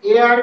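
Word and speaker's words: heir: N honest man এন এয়ার এটার উচ্চারণ কি এয়ার এটা বলা হয় উত্তরাধিকার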